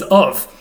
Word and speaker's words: of: The only common word that does this is of. Of is obviously a very common word in English. We spell it with an F, we actually say it with a V.